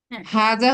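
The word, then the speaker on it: هذا: Basic difference বুঝতে পেরেছি হাজা হচ্ছে ম্যাসকুলিন সিঙ্গুলার ডেমনস্ট্রেটিভ প্রোনাউন হাজি হচ্ছে ফেমিনিন সিঙ্গুলার ডেমনস্ট্রেটিভ প্রোনাউন এবং দেখেন এটাকে বলেছে কি উচ্চারণের সময় একা আলিফ টেনে উচ্চারণ কিন্তু লেখার সময় আলিফটাকে অমিটেড রাখা হয়।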